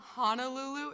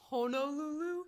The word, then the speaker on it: Honolulu: Hawaii it's pronounced Havi so it's also not Honolulu it's Honolulu it's not Why Kiki Beach